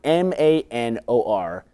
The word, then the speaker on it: Manor: are on them no a lot of just pronounced incorrectly like the word m a n o r is a word it says Manor that's how you say it we don't say Manor Road we say Mayor Road you know you live right by Mayor